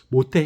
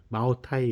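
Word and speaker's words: 茅台: 그 마오타이 그래요 모태 모태 현이라 그랬잖아요 여기 모태를 중국 발음으로 읽으면 마오타이 그래요 그 마오타이 같은 경우에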